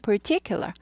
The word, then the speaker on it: particular: particular 발음은 particular. per 하고 구부리죠.